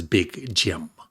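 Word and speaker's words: Big Jilm: It's weird because when he sings he says Big Jim, but for whatever reason it's spelled J I L M.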